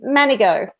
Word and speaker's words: Manego: with pronouncing my surname everybody struggles with it but it is actually manigo uh yes but it's